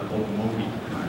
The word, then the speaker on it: Okmulgee: And she said, well, the OK is pronounced oak, is an oak tree.